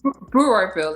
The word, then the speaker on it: Brewerville: Brewerville, like you're brewing.